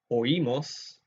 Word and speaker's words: oímos: Here we have 2 separate syllables, okay, because of this accent mark. So that's important to get 2 different sounds here.